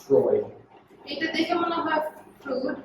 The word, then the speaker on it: Freud: It looks like Freud, it's pronounced Freud.